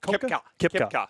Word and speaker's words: Koepka: How do you pronounce it? Is it Koepka?